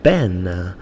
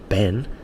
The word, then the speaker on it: Ben: she always calls me Ben, and I have to tell her, obviously jokingly, but I have to tell her, I say, look, Ben has 1 syllable. Ben, it's not Ben, yeah?